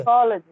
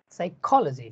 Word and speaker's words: psychology: the Fifth Line there also the rule is before logi whatever is the syllable that is spoken loudly so now you know technology and what about the next word psychology uh now speak Co louder psychology psychology psychology yes